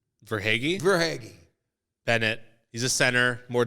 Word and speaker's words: Verhaeghe: Wager? Verhaeghe.